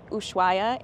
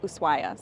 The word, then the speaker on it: Ushuaia: asked a local and they said the H is silent and it's more like Ushuaia.